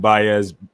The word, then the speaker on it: Baez: The biblical and Joshua, the biblical, and Baez. Think of Bay and then add a Z to it.